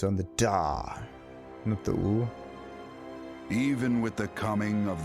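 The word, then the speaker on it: Ul'dah: of defiance her name ulda the pronunciation is on the dar even with the coming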